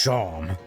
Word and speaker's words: Seam: But aim seam, pronounced sham.